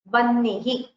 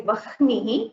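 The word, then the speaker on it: वह्निः: Now, here the pronunciation will be Vannihi. You will not say Vahnihi. You will not pronounce the Hakara first. You will pronounce it as Vannihi.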